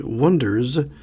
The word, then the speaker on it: Oneders: a band called the Wonders. And the Wonders is spelled Oneders, not like wonder, like wonder, like number one with ders at the end.